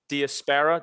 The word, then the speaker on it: Diasparra: creator of Crown Refs, Diasparra.